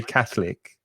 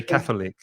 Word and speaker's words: catholic: in with native speakers some native speakers might pronounce it with three syllables as you did and some native speakers pronounce it with two i say catholic too even even shorter